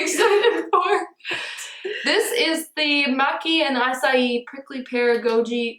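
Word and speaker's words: maqui: Maki. M-A-Q-U-I. Maki. Maki? How else would you spell it? How would you say it? I just didn't know what it was that you were talking about until I looked at it and it spelled M-A-Q-U-I. I was thinking it like M-A-C-C-I. And I was just pronouncing it wrong. Yeah, and I was like, nope. It's an oil. Like macchiato.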